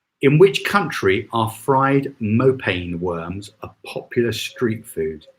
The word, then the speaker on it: mopane: Was that in Zimbabwe or was it in another country where they were saying moonbeam? Is that how you pronounce it? I've been saying mopane. Is it moonbeam? Or is that something else? Oh, mopane worms.